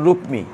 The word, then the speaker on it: রুক্মী: 5টি ভাইয়ের মধ্যে বড় ভাইয়ের নাম ছিল রুক্মী। আমরা যদি কর সাথে মৌ উচ্চারণ করি তাহলে রুক্মী হবে, নাহলে রুক্কি হবে।